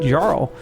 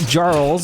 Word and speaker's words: Jarl: I got ridiculed on YouTube because I call them the Great Jarls, and I guess the J is silent in the Norse region, so that's gonna be Jarl, I guess is what it is.